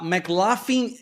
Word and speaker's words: McLaughlin: A McLaughlin & Associates. É essa pronúncia que é o F, tá? McLaughlin.